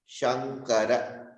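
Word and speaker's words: शङ्कर: So your tongue will actually touch up. It will go to the murni. If you are talking shan. Whereas Shankara, your tongue will remain down.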